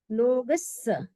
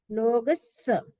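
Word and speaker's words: लोगस्स: लोगस, double स है तो जोर लगेगा। लोगस, लोगस।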